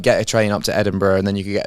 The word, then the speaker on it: Edinburgh: Edin so it's B Edinburgh so you look it said it's spelled Burough but it's you would say Edinburgh right when I was in when I